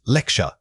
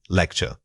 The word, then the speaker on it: lecture: The word is lecture. Say it again. Lecture. When you say this, make sure your emphasis falls strongly on lect. Don't let that sound get muffled by the following syllables.